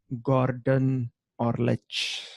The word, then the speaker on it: Gordan Orlic: So before we wrap this episode, where can people find Gordan Orlic? See, I pronounced it correctly this time around.